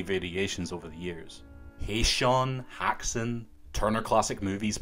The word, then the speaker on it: Häxan: I've scoured everywhere and in its native Swedish it's pronounced hexon hexon hexon in Danish it's hexen and many people use